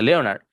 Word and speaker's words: Leonard: para el sonido e, como en el nombre Leonard, que se escribe Leonard, pero no se dice Leonard, se dice Leonard con e.